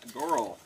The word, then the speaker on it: Goral: Sean Goral, I'd imagine. G-O-R-A-L, like coral, but with a G.